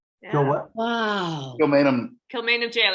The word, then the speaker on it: Kilmainham: they been So, in Kilmainham jail?